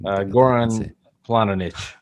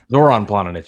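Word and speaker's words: Zoran Planinić: Oh, see, I don't know how to pronounce his name. No, you would. Goran Planic. Zoran Planinic.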